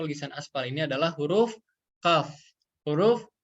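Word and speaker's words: كاف: Huruf yang keluar dari aqsa lisan asfal ini adalah huruf kaf. Huruf kaf ya sobat. Yang mudahnya seperti huruf K pada ejaan bahasa Indonesia.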